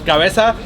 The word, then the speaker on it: cabeza: So yeah, it's cabeza.